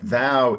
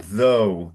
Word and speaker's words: thou: plural or singular, but thou is singular and it's pronounced thou with an open o, not though as though it was t h o u g h.